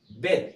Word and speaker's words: بيت: طيب لو احنا هنا شلنا الاي، مفيش اي في الكلمه ديت، يبقى هنطق الاي كانه حرف الاي كانها كسره، زي اقول بيت، يبقى نطقها ايه؟ بيت.